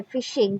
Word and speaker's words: phishing: तो यहाँ पे PHISHING ये जो टर्म है फिशिंग, प्रोनाउंसिएशन सेम है.